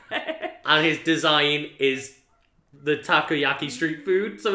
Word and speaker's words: takoyaki: is a Japanese street food I believe it's pronounced taco a key it is like fried octopus holes which is kind of terrifying because he's an octopus yeah and his design is the takoyaki Street food so it's like you kind of